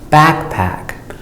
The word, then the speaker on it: backpack: Backpack. Back is the full sound ah, short sound ah, back, and it's long, back. Pack, it's a second syllable. It's not long, it's shorter. Backpack, it's not so open.